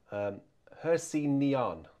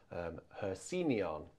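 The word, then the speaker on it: He Xin Nian: It's pronounced, I think, Hexi Nian. So it's H-E-X-I-N, H-E space, X-I-N space, N-I-A-N. Hexi Nian.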